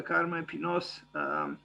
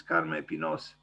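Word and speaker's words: Carme Pinós: I checked a few minutes ago how to pronounce correctly her name in Catalan. I'm still not sure I pronounce it well, but it is kind of like this, Carme Pinos.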